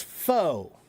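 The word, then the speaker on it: faux: And how do you pronounce it? Abdul knows because Abdul speaks French. Yeah. This word is fo. Fo. And f a ux fo. It means fake. Fake. false, artificial, fake, foe.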